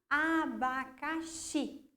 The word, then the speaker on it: abacaxi: Então, quando nós pronunciamos, falem lá, abacaxi. Olha lá, quando que a gente puxa, quando a gente coloca mais entonação nessa palavra? Na última sílaba, xi.